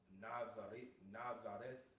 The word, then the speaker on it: Nazareth: All right, well, Nazareth, whenever you get that word in the Greek, it's pronounced Nazareth, which it says the guarded one, the ordinary residence and hometown of Yahushua.